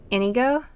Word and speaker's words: Inigo: And I paired Lucina up with Inigo. Is that how you pronounce it, Smashy?